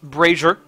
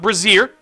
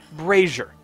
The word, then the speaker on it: brazier: That is pronounced brazier, by the way. Not brazier. It's brazier.